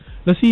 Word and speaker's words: Luscii: Lucy is spelled Luscii.